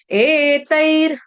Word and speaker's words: एतैर्: एतैर, ए एकता का, एकादशी वाला। त के ऊपर दो मात्रा है तो उसको तय नहीं पढ़ेंगे, तई पढ़ेंगे।